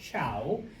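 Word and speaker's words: Zhou: All right, it is pronounced ciao that um is in charge.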